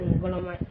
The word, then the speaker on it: Ngoloma: So the name Ngoloma is not Nkrumah, it's Ngoloma. Ngoloma. Yeah, it's Ngaloma, Ngoloma. And not Nkrumah. Because the white people, they cannot pronounce Ngoloma and they make it Nkrumah as the Asante people pronounce their own.